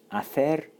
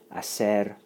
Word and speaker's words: hacer: of spice and variety, the Latin American or the Southern Spanish pronunciation of that would be something like hacer, hacer. So hacer, Castilian Spanish, hacer, Latin American Spanish, or Southern Spanish from Southern Spain.